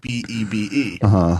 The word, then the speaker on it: Bebe: A in BB. Might be a clue how to say it. You can say I was saying babe, like Bebe. Babe. Like Bebe. Like Bebe's Kids.